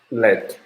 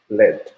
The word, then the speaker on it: lead: Yeah, as I talk a lot of time, lead acid battery, pronunciation is lead, not lead.